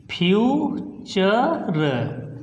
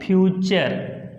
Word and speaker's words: future: उसमें देखते हैं कि वर्ड के लास्ट में TURE लगा है तो हम उसको उच्चारण चर पढ़ेंगे। तो देखिए, आइए एग्जाम्पल से कैसे, जैसे हमने लिख दिया FUTURE, तो यहाँ पे लास्ट में लगा TURE, तो इसको बोलेंगे फ्यूचर।